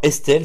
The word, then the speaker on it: S-Tel: Alors Estel s'écrit S majuscule et T-E-L comme téléphone.